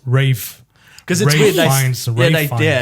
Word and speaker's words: Ralph: So is it I think it's pronounced Rafe. Fines. Ray. Yeah. It's not pronounced Ralph. It's Ray. Ray or R. Ra. Rafe. Fines. Rafe fines. Yes.